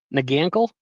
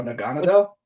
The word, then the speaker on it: Naganadel: Nag I can't pronounce that. Nagle what? No. Naganadel.